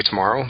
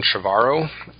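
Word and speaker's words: Trevorrow: name right but cuz I always want to say tomorrow but it's Colin chavarro um and there's been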